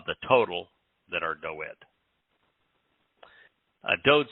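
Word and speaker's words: דוד: There's no V in Hebrew, and there's no justification for the I, but nonetheless, David. And the Wa is pronounced as either an O or the U sound, and so there's no Da in Dod.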